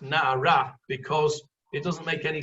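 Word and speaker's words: נערה: Only when you look in the Torah, that hey is missing, and it is spelt nun ayin reish, but it is pronounced na'ara, and it's pronounced na'ara because it doesn't make any sense if you pronounce it na'ar as a boy.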